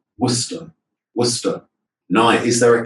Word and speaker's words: Worcester: How many syllables? 2 syllables. Okay, Worcester.